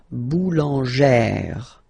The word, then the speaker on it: boulangère: Remember, when you've got this E plus this accent grave, you pronounce it like E, really open E sound. Okay, so boulanger, boulanger, and then feminine form, boulangère, boulangère.